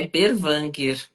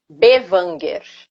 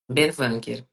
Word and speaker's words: Berwanger: É Berwanger. Bevanger. Berwanger.